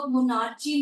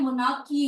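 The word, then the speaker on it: monarchy: नहीं है, लुई 16, ये मोनार्ची नहीं होता है, मोनार्की होता है, ठीक है, इसे बेटा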